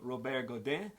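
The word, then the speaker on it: Godin: 32 years ago by a guy named Rober Goden uh if he was from south Louisiana he'd be Robert Goden uh and we'd pronounce his name really funny like we do everything else down here but um let's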